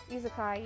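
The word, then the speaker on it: isekai: don't know how to say it correctly isakai izakai yes i read a lot of izakai it's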